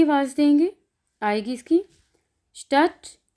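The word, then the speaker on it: Stadt: डे थे की आवाज़ देंगे, आएगी इसकी स्टट, श्मिट। डे जो है ये साइलेंट है, ये टे की आवाज़ आनी है इसमें। स्टट, श्मिट, डे साइलेंट है।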